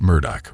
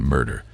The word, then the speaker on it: Murdaugh: and informed my family Murda whose name is pronounced Murdoch rather than murder has denied murdering his